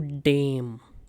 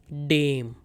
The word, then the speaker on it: dem: Now in dative case dare and does they both change to dame. Many students pronounce this incorrectly. They say dem. This is not dam. This is dame. Dame.